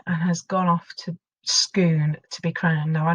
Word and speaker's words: Scone: next in line and has gone off to Scoon to be crowned now I know that looks